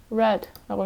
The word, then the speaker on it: read: read라고 읽는 거 맞네요.